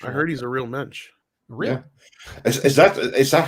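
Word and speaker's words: Moench: heard he's a real mensch really is that is that how you pronounce it mensch well some people it's munch you know it depends how they decide if my name was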